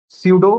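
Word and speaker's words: pseudo: हम क्या बोलते हैं सूडो पी एस ई यू डी ओ सूडो code सूडो code मतलब पी साइलेंट होता है इसमें ठीक है सूडो कोड मतलब पी जो है साइलेंट है सूडो कोड सूडो कोड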